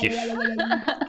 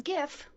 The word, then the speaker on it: GIF: It's GIF, it's not GIF. Kawaii GIF is lip what you injection. clean with. Yeah. With the J. J-I-F, exactly. That one.